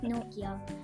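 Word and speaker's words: Nortje: Rabada isn't in consistent form, but Norgay is absolutely a beast. Actually, Norja is also a good fielder. Okay. Dhruva, how about you? And let's just make this clear. It's pronounced Nokia.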